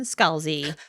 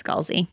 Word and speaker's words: Scalzi: it up on YouTube, and it's Scalzi. Yeah. Scalzi. Scalzi. Some people may pronounce it Scalzi, Scalzi. That's even but different. Scalzi is the pronunciation the author, John Scalzi, himself prefers, according to this AI overview.